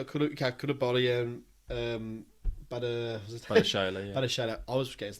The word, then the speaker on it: Badiashile: Badiashile, I was getting his name wrong.